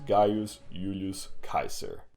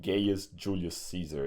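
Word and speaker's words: Gaius Julius Caesar: lived his name was guos Ulus Kaiser and that's how you pronounce it but I'll call him gayest Julius Caesar anyway save the trouble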